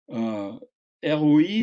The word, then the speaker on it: ROI: Alors, ROI, c'est Return on Investment.